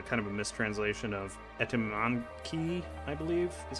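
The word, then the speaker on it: Etemenanki: Also, and just to give you guys an idea, Etranank is it's a kind of a mistranslation of Etymanki, I believe is how you say it. Etymanki, that's what it is.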